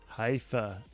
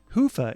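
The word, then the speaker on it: Hyvä: Talk Commerce is sponsored by Haifa, or as the Europeans say, Hoofa, or the right way to say it. Hoofa is rapidly becoming the biggest Magento front end after Luma.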